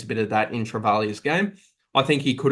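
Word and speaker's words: Travaglia: And then we're going to go with the Saints rookie, Toby Travalia. I've finally learned that there's no G in the pronunciation.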